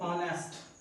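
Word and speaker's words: honest: देखो आप लिखते हो ऑनेस्ट, अगर मैं कॉन्सोनेंट लेटर कहूँ तो ये कॉन्सोनेंट लेटर है, इसके साथ ए आना चाहिए, लेकिन ऑनेस्ट में एच साइलेंट है तो साउंड किसकी आ रही है?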